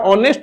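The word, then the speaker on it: honest: यूज़ होता है बच्चों इसी प्रकार ऑनेस्ट वर्ड है। यहां एच से शुरुआत हो रही है। लेकिन उच्चारण करते समय आवाज यहां पर भी ऑनेस्ट क्या है? एच साइलेंट है।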